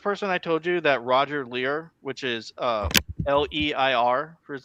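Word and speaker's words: Roger Leir: It's Roger Lear.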